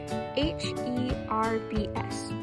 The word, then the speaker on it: herbs: you with is herb herb is spelled with the silent h h-e-r-b-s that says herbs and herbs are any